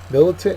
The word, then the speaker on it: militant: and antonym is exposed militant is our next word it's an adjective it's also a noun uh the first syllable is accented it is given to